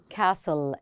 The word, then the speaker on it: castle: And this is a castle. T silent لا تلفظ. Castle. Castle.